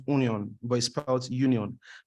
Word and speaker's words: Union Berlin: Union Berlin right right it's pronounced onion by Sprouts Union pronounced onion Berlin right so Unum Berlin